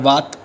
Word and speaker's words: Vata: Also if you know about Ayurveda, so you have Vat, Pitta and Kapha. In English you say it Vata, Pitta and Kapha. Is just a pronunciation as per English language.